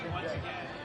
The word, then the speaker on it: Jindyeh: Sammy Jindyeh will serve. Because the classic pronunciation is Jindyeh. And this one is Jindyeh.